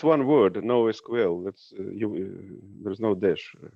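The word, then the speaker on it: NoSQL: decommissioned yeah misha also when you're saying no sequel i think it's you should say no sql okay no sql okay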